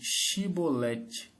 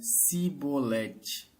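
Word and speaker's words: שיבולת: Então diziam: Dize, pois, Shibolete. Porém, ele dizia Sibolete, porque não o podia pronunciar bem.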